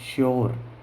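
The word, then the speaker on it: sure: जैसे मैंने लिखा एस यू आर ई, श्योर। ठीक है। तो इस प्रकार से हम एस यू का उच्चारण भी से सलजम वाला से करते हैं।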